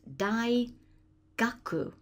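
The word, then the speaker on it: 大学: It's simply big learning, so it's pronounced dai gaku. No core on the end of that.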